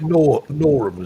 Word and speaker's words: Norham: So I guess, I mean, is it Norham? Is it pronounced Nor?